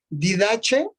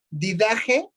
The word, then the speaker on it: Didache: Tiene 3 nombres o 3 pronunciaciones: Didache, Didaje o Didacne.